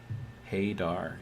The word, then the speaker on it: Hadar: not familiar with that hayar is the proper pronunciation I guess okay kind of like radar just you know with an H um Dr Co says